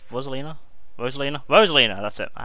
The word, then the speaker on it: Rosalina: and juliet what was lena is that he pronounced her name rosalina rosalina rosalina that's it i haven't played this